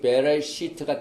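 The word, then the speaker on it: בְּרֵאשִׁית: 그래서 우리가 오늘 토라 사이클이 새로 시작되는 첫 말씀이 베레시트가 들어있는 말씀, 창세기 1장 1절 말씀을 우리가 많이 발음을 해봤지만은 우리가 다시 한번 하나하나를 발음을 해보겠습니다.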